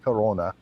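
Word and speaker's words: Krone: guy named roger crona if you pronounce his name in german he's a german speaker his name is name is k-r-o-n-e it's pronounced corona okay he is the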